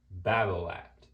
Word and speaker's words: Babolat: the brand known as Babolat. Now the thing is if you want to actually pronounce Bablat correctly because they are a French company, it is technically pronounced Babola. You don't pronounce the T.